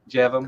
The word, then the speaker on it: Jevon: Is it Jevon? Jevon. Correct. Jevon.